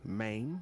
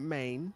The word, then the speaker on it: Mayne: You guys make sure you say it right. You know, Mayne, not Maine.